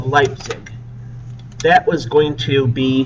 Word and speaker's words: Leipzig: the Battle of leig let me spell that for you l e i p zi G lipzig the Battle of lipsig that was going to